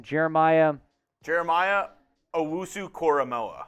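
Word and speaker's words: Owusu-Koramoah: into joku uh do you know how to pronounce that next name Jeremiah Jeremiah Owusu koramoa koramoa that's right cormo Jeremiah OSU koramoa did not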